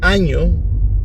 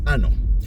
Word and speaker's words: año: he finally realized that he'd been mispronouncing the word año all these years. I've been learning Spanish for a couple of years, and he was convinced that the word was ano.